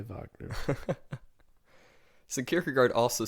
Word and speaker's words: Wagner: I don't know I I kind of don't like calling him vogner because he's really Wagner well he's German I know but still it's spelled with a W fair enough so but I do say Vagner secur guard also says